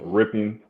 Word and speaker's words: Rypien: If he isn't cleared through protocol by Sunday, Brett Rypien, is that how you pronounce his name? Yeah, Rypien.